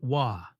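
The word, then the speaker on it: は: For instance, Chinese and Korean have a similar feature. Okay, let's now take a look at the hiragana part of this sentence. This symbol, usually pronounced as ha, here, makes the sound wa, and it is basically untranslatable in this context.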